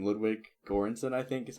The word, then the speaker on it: Ludwig Göransson: Ludwig Göransson, I think is how it's pronounced.